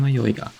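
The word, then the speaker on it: 迷い家: Stage 2 takes place in Mayoiga. It's often written as Mayohiga, even in Japanese, but the hi is just pronounced as I for whatever reason.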